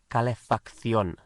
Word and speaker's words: calefacción: And the word for the heating is la calefacción. La calefacción. La calefacción. And la calefacción, the heating, is spelt C-A-L-E-F-A-C-C-I-O with an accent N.